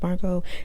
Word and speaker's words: Margot: He says, "My name is Margot. The T is silent."